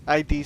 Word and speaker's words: id: I know it that it's by id Software, ID Software, but that's it. It's a very confusing name also. It's pronounced id, but it's ID.